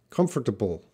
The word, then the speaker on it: comfortable: fast comfortable comfortable comfortable comfortable so the British I think as a stronger T sound in the middle comfortable comfortable but I pronounce it comfortable TT sound is reduced British sound comfortable comfortable hope that